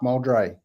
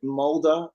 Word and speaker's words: Moldre: of your name correctly I was actually gonna say that you're one of the few yeah right first go fantastic that's great I get molder and muldry and lately because of